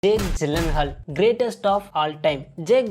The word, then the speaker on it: Gyllenhaal: I'm pronouncing it correctly it is a Swedish name is it not it